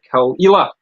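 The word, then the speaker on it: Caol Ila: today i'm going to be sampling uh the kalila which is how it's pronounced called i like the kalila it's a little bit less known than some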